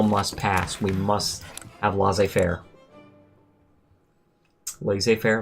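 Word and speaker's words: laissez-faire: pass we must have L Fair La Fair L Fair what do you guys say do you say l fair or do you say la Fair I've always said L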